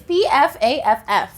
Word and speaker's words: Pfaff: is the funniest name it's Pfaff actually when you pronounce it look at that for